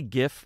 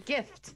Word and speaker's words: GIF: Do you guys say GIF or JIF? Yeah. It's GIF, right? Yeah. I hear some people say JIF.